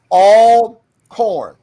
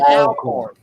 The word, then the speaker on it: Alcorn: They said you got to say it right. It's all corn, not Alcorn.